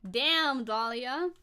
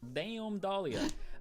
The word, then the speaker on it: DM Dahlia: that server, however, was DM Dahlia, and I do have to say it like that, damn, because that's how it's spelled, and I like to say it like that. So damn Dahlia. Damn Dahlia.